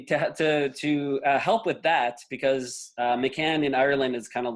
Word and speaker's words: McCann: they say, oh, McCann. And it's not McCain. I've been called McCain, McCannon, McCant. Can I call you? And they're all wrong. No. I actually, to help with that, because McCann in Ireland is kind of like Smith.